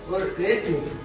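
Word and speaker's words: wrestling: অর্থ হলো ইংলিশ বিখ্যাত গ্রামার গিট এরপরে হলো রেসলিং রেসলিং এ আর এর আগে দেখুন ডাব আছে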